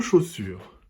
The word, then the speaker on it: chaussure: On entend le son O dans la première et la deuxième syllabe. Dans la première syllabe, encore une fois, ce sont les lettres A et U qui font le son O.